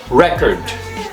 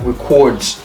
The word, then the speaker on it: record: e o r d when it's a noun the stress is on the first syllable so it's pronounce record record so record okay it means a thing that records information now when it's